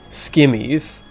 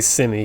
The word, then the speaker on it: scimmy: swords like, you know, skimmies. Or like maybe it was like text, so maybe like SCIMMY. Like I'm supposed to say simmy because like I guess the C is silent, like scimitar.